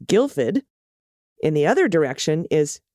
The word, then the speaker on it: Guildford: the road is the town of guildford which is pronounced guilford in the other direction